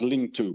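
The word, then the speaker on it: 領土: in classical Chinese that they were they were pronounced linked to but they have exactly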